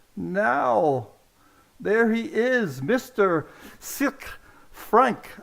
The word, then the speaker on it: Sicre: Sicre, Franck. How is that pronunciation? Sicre, c'est bon?